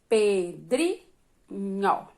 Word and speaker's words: Pedrinho: separe a sílaba Pedrinho Qual a sílaba tônica sílaba mais forte Dri né Pedrinho aí depois você vem